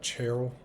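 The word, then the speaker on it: ceorl: person whose name is cherl CE o r l that would be the old English pronunciation of course that's the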